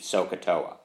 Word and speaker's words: SOHCAHTOA: And in my class, I've often used the term that this is this famous Indian chief, okay, Chief Sokotoa.